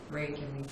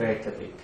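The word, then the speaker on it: Reykjavík: in Reykjavik, Iceland. Or how would you pronounce it? Reykjavik, Iceland. Reykjavik.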